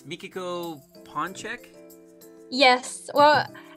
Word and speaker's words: Ponczeck: The pronunciation is kind of warped, I guess. So it's Ponczeck.